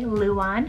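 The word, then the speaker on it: Luan: we have the name luon spell l-u-a-n this one's pronounced in english the exact same way luon and this one both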